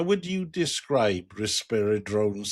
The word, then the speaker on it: Risperidone: I'm joined by Rob and Wig from Risperidone. I think that's how you say it. That's it. Yeah, Risperidone.